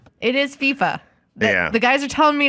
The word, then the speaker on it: FIFA: It is FIFA. The guys are telling me it's FIFA.